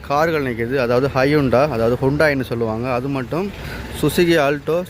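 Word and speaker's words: Hyundai: இதில் ஃபஸ்ட்டு நிற்கிறது பார்த்தீங்கன்னு சொன்னால் ஹையுண்டாய், அதாவது ஹுண்டாயின்னு சொல்லுவோம். ஸோ இதோட டீட்டெயிலையும் இதோட ப்ரைஸ் எல்லாம் பார்ப்போம். இது பார்த்திங்கன்னா ஹையுண்டாய், அதாவது இலங்கையில் வந்து ஹையுண்டாய்னு சொன்னான்னு தெரியும். ஆனால் வந்து இதோட உச்சரிப்பு வந்து ஹுண்டாய், அதாவது ஹொண்டா இல்லை ஹுண்டாய்.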